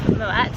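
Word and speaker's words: Moët: This is an argument, isn't it, about the pronunciation of Moet? There is no argument. It's pronounced Moet. Because if you were French, you'd say Moet et Chandon.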